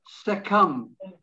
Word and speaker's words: succumb: silent b once again and finally succumb when you succumb you give into something again a silent b so there you are